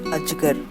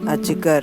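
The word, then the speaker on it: अजगर: Second word is a, j, g, r, ajgar.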